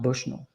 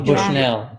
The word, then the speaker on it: Bushnell: It's pronounced Bushnell, not Yeah. Bushnell. No. Bushnell. You are the native, so we'll Yeah.